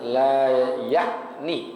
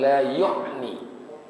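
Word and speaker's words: لا يَعْنِي: Ini bacanya la ya'ni, bukan la yu'ni. Karena disebutin bifathil, ya, bifathil ya, dengan difathahkan huruf ya.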